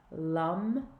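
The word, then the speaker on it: लं: and and that that seed mantra is Lum L a if you imagine Lamas in it rhymes with dum and so we're just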